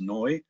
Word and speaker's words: Neu: it out new um it was carl's last name in german it's actually pronounced noy so it's noid dynamics